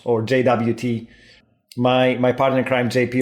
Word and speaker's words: JWT: JOT because he's like, there's no O in the JWT, but in the RFC, they also say you can pronounce it as JOT.